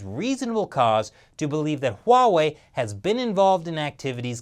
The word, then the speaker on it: Huawei: It's Huawei with an H, people. It's not Huawei.